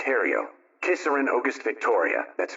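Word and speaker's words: Herriot: Testo Madame Edward Haria that's h e r r i o t pronounced Hario kisser and AUST Victoria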